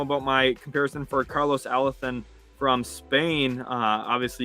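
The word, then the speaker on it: Alocén: Obviously, you can hear me talking with the Theo when we're saying Alethon's name. It sounds like I'm talking with a lisp, I know, but that's how they say it over there in Spain.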